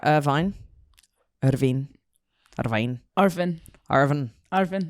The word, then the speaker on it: Irvine: Scotland am I going to say it right Irvine irin Irvine Irvin Irvin Irvin that's you sound